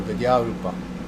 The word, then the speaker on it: Vidya Rupa: spell that for Etc but it's how it sounds viya viya long a on the end means knowledge wisdom and then rup long u long a Rupa because it's feminine uh so all together viya Rupa and it means the